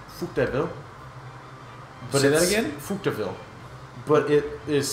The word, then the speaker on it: Coupe de Ville: called it's pronounced dead oh but it again Coupe de Ville but it is spelled de Ville like